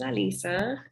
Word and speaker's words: Alyssa: i said my name is alisa i you might notice it spelt like alyssa but i insist now that it's alisa um there was a